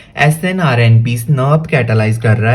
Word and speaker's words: snRNP: एंड इसको हम pronounce करते हैं, जैसे SNRNP है तो इसको हम स्नर्प प्रोनाउंस करते हैं, स्नर्प बोलते हैं इसको, U1 स्नर्प, U2 स्नर्प, ऐसे।